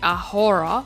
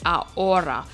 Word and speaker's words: ahora: aura is now now remember H in Spanish is silent so we don't say ahora we say our aura so you imagine that